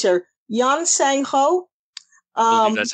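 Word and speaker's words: Yeon Sang-ho: apologize for massacring uh the asian names here yan seng ho um that's how you say it yes he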